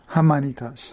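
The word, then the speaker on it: Jaimanitas: Hamanitas.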